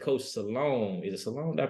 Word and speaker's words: Sloan: that, everybody know Coach, I think it's Coach Sloan. Is it Sloan? Did I pronounce that right? Jerry Sloan, yep.